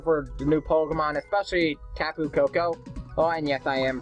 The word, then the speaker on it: Tapu Koko: I'm really excited for the new Pokemon, especially Tapu Koko. Oh, and yes, I am pronouncing that Pokemon's name correctly.